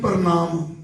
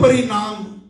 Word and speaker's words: प्रणाम: शब्द प्रणाम है, कई लोग कहते हैं प्रणाम, कई कहते हैं परिणाम, तो इससे ही सारा ये बदल जाता है भाव। प्रणाम इस शब्द को एक साथ बोलना है, नहीं तो शुद्ध उच्चारण नहीं रहता।